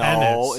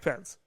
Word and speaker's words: Pence: You're saying his name wrong. Mike Penis. No, Pennis. it's Pennis. Whatever. It's Mike Pence. Ennis. Borat says it Mike Pence.